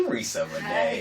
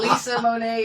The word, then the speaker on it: Reesa Renee: Hey, Reesa Renee. Hi, guys. Am I pronouncing your name correctly? You are. Woo. You're like, people usually know. They give you Lisa Monet.